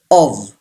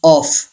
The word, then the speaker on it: of: Say this word: of. जी हाँ, don't pronounce of. ये जो F है ये V की साउंड देता है.